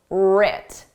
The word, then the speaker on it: writ: Our successes and failures were writ. Did you spell this starting with a R or with a W? The W is silent. Just like in the word write, the W is silent.